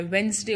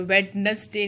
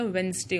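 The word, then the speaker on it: Wednesday: डब्ल्यू ई डी एन ई एस डी ए वाई, वेंसडे होता है, वेडनेसडे नहीं होता, वेंसडे होता है.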